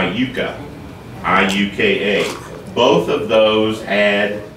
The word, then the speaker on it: Iuka: And then another one called, of course, here in Southern Indiana, we mispronounce it, but we call it Iuka, but it was Iuka, I-U-K-A.